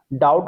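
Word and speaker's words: doubt: इसी तरीके से डाउट डाउट में अगर हम देखते हैं तो बी यहां पे साइलेंट है डाउट बोला जाता है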